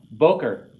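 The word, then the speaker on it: בוקר: here okay after me voker means morning i say boca toe to you it means good morning accents on the first syllable see he's telling your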